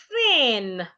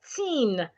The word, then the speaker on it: thin: To articulate the voiceless th sound, it's important that your tongue is positioned in between your teeth. And then you blow air.